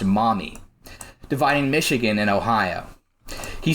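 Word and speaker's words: Maumee: towards the Mami River spelled m m e but pronounced mommy dividing Michigan and Ohio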